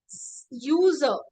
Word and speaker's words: user: are talking about now when you say user right when you are saying that something means the user right user means you have a sound like this you but here you can